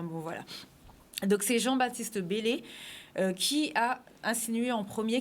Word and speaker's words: Bellay: que c'était de Céline donc non c'est Jean-Baptiste Bellay alors ça s'écrit be l e y aller voir la